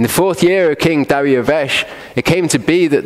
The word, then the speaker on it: Dariavesh: It says, in the fourth year of King Dariavesh, that's Darius if you want to say his name wrong, it came to be